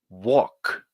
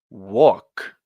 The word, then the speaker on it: walk: correctly repeat after me walk one more time walk yeah you don't pronounce this L the L is silent uh another example is